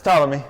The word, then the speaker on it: Ptolemy: Nope, it's Ptolemy.